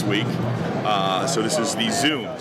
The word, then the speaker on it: Xoom: So this is the Xoom, spelled with an X, X-O-O-M.